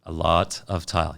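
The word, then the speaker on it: Alota Tile: lot of tile or I hope I pronounce it right a lot of tile yes a lot of times a lot of time yeah it's a-l-o-t-a okay uh my supplier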